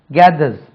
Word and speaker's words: gathers: Gather, gathered, gathered, gathers, Z. He gathers, S சேரும் ஸ்பெல்லிங்ல, உச்சரிப்பில் Z. Gathers, gathered, gathered, gathering.